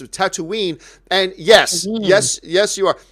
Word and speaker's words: Tatooine: It's actually, you mispronounced it. It's Tatooine.